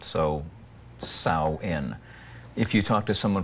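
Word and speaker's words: Samhain: h a i n the MH in Irish Gaelic is a w the a is silent so sa in if you talk to someone from Scotland the MH is a v so it's savine Mark this is such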